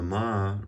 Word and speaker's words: 吗: So the ma, remember our tones, is a neutral tone here.